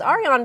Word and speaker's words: Arion: That's not how you say it though, because I remember we shouted it out that way. Arion Brown. That's how it is. Arion Brown.